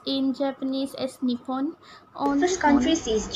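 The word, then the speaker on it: 日本: So Japan, pronounced in Japanese as Nippon. On first countries on, is Japan. Second countries Japan is culture. Vietnam. Japan, pronounced third in is Japanese Indonesia. As Nippon or Nihon.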